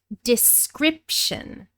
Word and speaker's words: description: So the verb describe becomes the noun description. Describe with a long I, description with a short I in the stressed syllable.